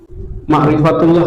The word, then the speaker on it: ma'rifatullah: Jadi mengenal Allah itu Ma'rifatullah ya. Ini pakai Arab apa Latin? Request aja. Latin, oke. Tapi tulisan saya nggak pernah benar, nggak apa-apa ya. Ma'rifatullah atau ma'rifat Allah. Bacanya ma'rifatullah ya.